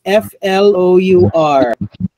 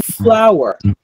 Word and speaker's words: flour: do you quantify oil water how do you pronounce this f-l-o-u-r no English major which among the following words